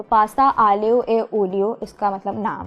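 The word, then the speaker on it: aglio e olio: उसका नाम है पास्ता आलियो ए ओलियो। अच्छा, वैसे ये प्रोनाउंसिएशन इसकी थोड़ी सी मुश्किल हो जाती है, क्योंकि इसको हम लिखते हैं थोड़ा सा ऐसे हैं कि AGLIO, फिर E, फिर OLIO।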